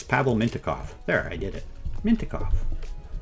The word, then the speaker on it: Pavel Mintyukov: Mint Minty Minty It's Pavel Mintyukov.